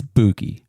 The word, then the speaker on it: Bookie: right it's not Nathaniel it's not Nate it's Boogie right yes sir Buie Buie so I was doing some reading about